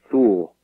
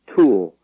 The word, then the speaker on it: Thule: And the Greek pronunciation is different. It's sort of a soft TH like Thule, but they use the Latin hard T, Thule, in the name of the air base and all that.